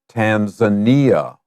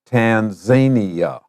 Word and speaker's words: Tanzania: Our destination today is East Africa, the country of Tanzania, or in English, we also say Tanzania. Remember, words that are not originally English may have more than one pronunciation, so don't worry about it.